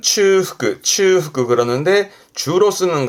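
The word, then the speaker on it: 中腹: 일단 발음은 츠후크, 츠후크 그러는데 주로 쓰는 건 야마노 츠후크, 산의 중턱.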